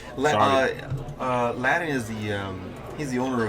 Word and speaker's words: Layden: I'd like to thank one of our new sponsors, Layden Hyundai and Subaru. Yeah, actually it's pronounced Ladin. Ladin.